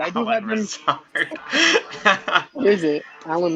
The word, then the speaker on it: Lazard: Lazard. What is it? Alan Lizard?